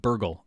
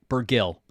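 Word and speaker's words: Bergil: Um I'm gonna make that mistake again. But burgle. Okay. Burggill. Can't burgle.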